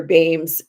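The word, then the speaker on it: Beams: Meanwhile, And this is the sleight of hand that Claire Bames, and that's how you pronounce her name, by the way, actually plays on the reader, but in a very beautiful way.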